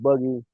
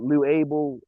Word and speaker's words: Luable: A lot of people don't really know how I pronounce it, so that's why I've been called Loogie, but Lou Ael is what you can find me on all platforms, all DSP, L Ub,